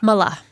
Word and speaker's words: Mallah: just how do I say your last name Mala Mala sure that's great did I say it